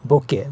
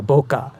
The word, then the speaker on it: bokeh: By the way, it is bokeh, not the bokeh like some people pronounce. Because, bokeh is originally a Japanese word, and I'm a Japanese man.